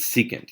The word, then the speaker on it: secant: don't in this one you don't say SEC or seek it's secant you say it as if it's spelled there and this one is co